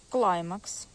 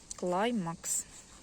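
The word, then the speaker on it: Climax: Це хоста Клаймакс. Так вона і произноситься. Клаймакс. Не по-іншому.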